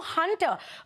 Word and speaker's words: Hantr: And then there's also Hunter, which is spelled as HANTR, which are small UAVs designed to non-lethally capture and bring down suspicious drones which are at short range.